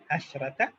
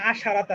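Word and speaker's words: عشرة: যেমন আহাদা আশারা তালিবা, ছাত্রের জন্য এটাও পুরুষ এটাও পুরুষ, ছাত্রীর জন্য এটাও স্ত্রী এটাও স্ত্রী, ইহদা আশরাতা তালিবা। এখানে আবার দেখেন আশারাতা না, কিন্তু আশরাতা, তাহলে এটার অপোজিট অনেকটা,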